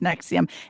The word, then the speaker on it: NXIVM: in and it's NXIVM, but it's pronounced Nexium.